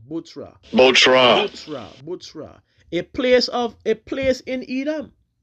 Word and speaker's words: Bozrah: Bozrah, let me get it.